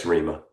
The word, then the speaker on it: REMA: Is that how you pronounce it, or is it REMA? It's REMA.